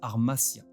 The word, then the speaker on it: hamartia: En grec, langue dans laquelle a été écrit le Nouveau Testament, le mot péché se prononce armasia et signifie littéralement manquer la cible.